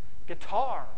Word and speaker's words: guitar: Or you can take a word that we borrowed from another language, like guitar. Oops, guitar. The accent's kind of weird. It's on the second syllable.